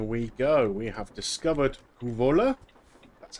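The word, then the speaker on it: Kouvola: We have discovered Kuvola. That's how you pronounce it.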